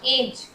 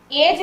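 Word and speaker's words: edge: यहाँ एज, एज में डी का साउंड नहीं हो रहा।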